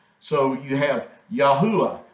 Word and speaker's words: Yahuah: it has the ah sound so you have yahuwah yahuwah is how you pronounce the Creator's name so we're going to